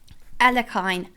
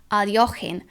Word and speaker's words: Alekhine: This is the Alekhine, Aljochin, Alekhine, so many pronunciations, defense, where you see